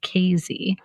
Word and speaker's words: Casey: town in southern Illinois called Kazy, spelled like Casey, but they will correct you.